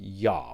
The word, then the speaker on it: Do: get a lot is, why does Kyle call me Ya when my name is spelled D-O? Well, I'm Vietnamese, and Vietnamese has three different O's and two different D's. The combination of letters for my name has the D without like a line through it, if you